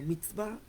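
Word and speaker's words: מצוה: Sí, se pronuncia como como bien este lo vemos acá como MITBA.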